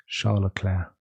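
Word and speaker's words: Leclerc: English angiz his name I think I understand the way to pronounce it that I sometimes mess up Charla CLA you know like the the woman's name CLA Charla Clair um watch me going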